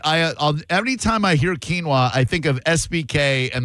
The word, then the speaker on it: quinoa: I I every time I hear quinoa I think of SBK and the way he used to pronounce it, which was I hope this still works. Quona.